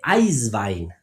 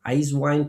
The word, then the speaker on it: Eiswein: Ahora, en Alemania se hace Eiswein, ¿sí? Es lo mismo, Eiswein, pero Eiswein, simplemente la pronunciación es diferente, donde utilizo sobre todo Riesling y Gewürztraminer, ¿sí?